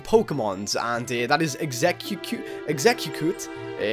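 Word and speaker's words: Exeggcute: And that is Exeu Exeicoot, I think, is how you pronounce it. Execut Okay, it's execute.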